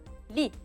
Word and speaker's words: lit: Un lit. Lit se termine à la fin avec un T. ما بدنا ننسى انه بنحط T بس ما بنلفظه. C'est une lettre qu'on écrit mais qu'on ne prononce pas.